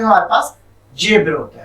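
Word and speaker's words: zèbre: में भी हमारे पास जेब्रा होता है। ओके। तो वर्ड हमारा जो है दोनों सेम होगा। जेड के ई पे हम एपोस्ट्रोफी यूज करते हैं और इसका प्रोनाउंसिएशन हो जाता है इन फ्रेंच जेब्र।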